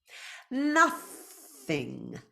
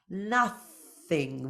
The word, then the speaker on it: nothing: becomes a z sound nothing nothing voiceless th tongue between your teeth and that NG sound at the end nothing I'm a contraction